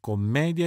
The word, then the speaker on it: commedia: bambino zerbino lavoro latte attenzione anche alle famose commedia e tragedia sono entrambe parole piane dunque accento sulla penultima sillaba e nessuna j alla fine sdrucciole e b sdrucciole